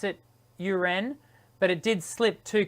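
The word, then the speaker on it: U'Ren: so let's let's clarify how do we correctly pronounce your last name definitely not urine not you ren is it you ren uran uren yes it did i actually usually do pronounce it uren but it did slip too quickly out of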